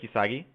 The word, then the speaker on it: Uesugi: So I'm going to pick Uesugi. That's how you pronounce it. Cool. If not, don't give a shit. No, I'm just kidding. But so I'm going to pick Uesugi, and my goal will be to form Japan.